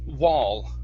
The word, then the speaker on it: wall: word um wall okay this word here is pronounced wall whoa there you go instead of wool wool it's wall good and the last one